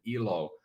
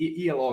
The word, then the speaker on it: Elo: thing so ELO it means um if we pronounce it ELO it means life in finish and if you pronounce it ELO as some people might it it means uh